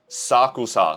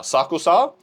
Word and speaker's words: Sakusa: Sakusa. Sakusa.